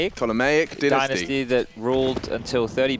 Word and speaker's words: Ptolemaic: Well, let's say the P is silent. Ptolemaic dynasty that ruled until 30 BC.